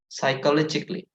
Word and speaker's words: psychologically: We also have psychologically. Well, actually, there is also another silent letter here, which is P. Yeah, P is also silent, so it's not psychologically, but psychologically.